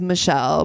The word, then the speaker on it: Mechele: Mechele Hughes. I'm saying Mechele, but her name is Michelle, but it is spelled M-E-Shell. So I don't know why I'm saying it that way, but it is Michelle.